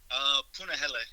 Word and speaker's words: Puna: Puna.